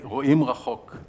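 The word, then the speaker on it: רואים רחוק: We say Ro'im Rachok. That's how we pronounce it in my Hebrew language.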